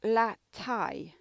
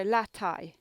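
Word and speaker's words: la taille: with pronunciation la tai you can just say it as like la and then a tie you know like a tie that you wear with a shirt so la thai people would understand you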